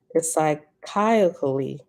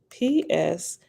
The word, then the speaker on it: psychically: It's psychiacally. I think it's psychiacally. Hold on. PS. PSYCHICALLY.